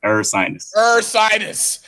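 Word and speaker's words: Ursinus: And like you said, uh I had to help you out with that pronunciation at my school. Sinus. Ersinus.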